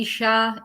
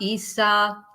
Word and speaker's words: Yssah: Yes, you can call me Isha, Yssah, Aisha. I know it's a name that can be pronounced in many ways, because actually I didn't